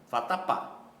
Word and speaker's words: vatapá: a primeira vatapá Olá vatapá percebam que a última sílaba é a mais forte Tá certo última nós